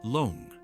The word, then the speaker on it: 龙: And in Chinese, it's pronounced Loong, not dragon.